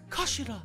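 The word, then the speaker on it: 頭: It's written as head in Japanese, but it's pronounced as kashira, I believe.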